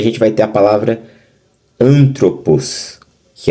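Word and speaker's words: ἄνθρωπος: Você vai ouvir antropos. Você basicamente já está falando a divisão, ó. Antropos. Como se fosse a palavra androide. Androide. Ou andrógeno. Andrógeno.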